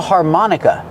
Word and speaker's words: harmonica: Put the stress on the second syllable. Har, like car and far, har. Mon, like hot and stop, mon. Harmon. Harmonica. The last syllable is the short sound, like cup and up.